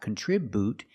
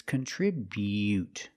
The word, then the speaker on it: contribute: Remember the buu is not bu it's not contribute it's contribute. Make the y-yu sound.